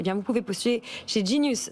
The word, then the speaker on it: Genius: vous pouvez postuler chez Genius. Ça se prononce à l'anglaise, mais ça s'écrit Genius.